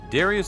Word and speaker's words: Darius: the game after him darius the grey is important to mention because his name comes from the greek name which is pronounced but the da almost sounds like tha here's a google comparison